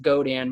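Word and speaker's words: Godin: what we call it go Dan Gio di n pronounced go tan multi AK nylon they're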